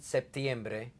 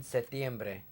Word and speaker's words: septiembre: letter P as in septiembre in other countries the word is written without the P as in setiembre in that case the P is not pronounced either ahora vamos hacer